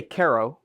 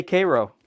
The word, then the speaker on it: Karo: So I would say Karo because it's Caroline is who it was named after. A lot of people say Karo.